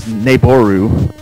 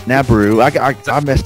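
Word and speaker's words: Nabooru: For years, I thought it was Naboru, and then I heard her pronounce it Nabaru.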